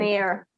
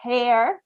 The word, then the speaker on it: heir: think so yeah um the h is silent so in this case the h is not pronounced um so basically the